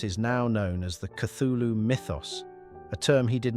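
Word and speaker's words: Cthulhu: now known as the cthulu Mythos a term he did not coin himself this word is intentionally non-human and there is no correct pronunciation Lovecraft suggested the closest pronunciation is Kulu unlike most horrific creatures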